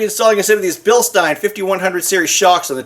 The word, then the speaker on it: Bilstein: I call it Bilstein, like Frankenstein, but some people call it Bilstein.